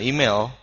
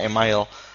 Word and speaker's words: email: Nah, ini disebut email, bukan email, bacanya email.